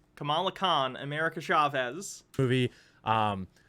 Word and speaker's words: Kamala: you got you know you got captain marvel camilla khan you've got to have america's chavez which is going to be in the doctor strange move chavez why why does he mispronounce every character's name kamala khan america chavez movie um and and it's